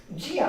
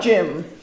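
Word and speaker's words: Geum: It's Jim. Jim. Jim. Yeah. G E U M I believe.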